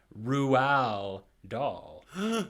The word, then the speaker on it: Roald Dahl: author himself in which his name was pronounced Roald Dahl. And since the show was hosted by him, I would assume that is the official correct way to say it.